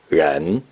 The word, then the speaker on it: 人: The noun for person or persons in Mandarin Chinese is pronounced ren.